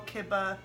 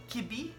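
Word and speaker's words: kibbeh: So some of the Syrians call kibba kibi. I've heard it pronounced kibba. And from what I understand, in Iraq, it's pronounced Kubba.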